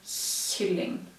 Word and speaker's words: kylling: That's a way to remind you that those three sounds, well, those three writings are pronounced in the front of the mouth, where you pronounce the S.